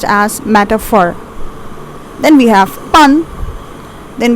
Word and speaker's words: metaphor: It's pronounced as metaphor.